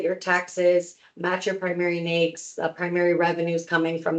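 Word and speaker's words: NAICS: That is the NAKES code. And quick little pro tip cuz people get this wrong all the time. NAKES code, N A I CS, NAKES code, is pronounced NAKES. It rhymes with snakes.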